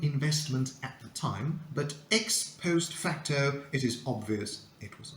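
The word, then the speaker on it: ex post facto: more scale Here Comes number seven the correct pronunciation is X post facto and it means retroactively retrospectively after the fact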